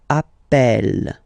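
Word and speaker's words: appelle: the pronunciation of uh you tend to pronounce it like e e really open that's the reason why you pronounce it Appel Appel okay Appel Appel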